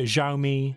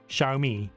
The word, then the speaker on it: Xiaomi: pronounce the name correctly we often hear xiaomi xiaomi or even hyomi it's actually very simple the word can be broken down into two paths shao and me which makes xiaomi with the emphasis on the second syllable the fact that lesion